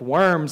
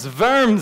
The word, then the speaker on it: Worms: of a diet of worms, like we're eating those little crawly things. He said, no, it's a diet, which comes from Latin, but it's worms, it's a V sound with the W.